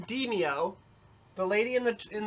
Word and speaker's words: Demeo: entering the team verse getting deemed it is pronounced dimio the lady in the in the uh yeah tutorial says Dinio yeah because we were like is it demaio give me DeMayo hey give me DeMayo that's